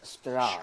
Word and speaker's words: Strahd: It is pronounced Strahd.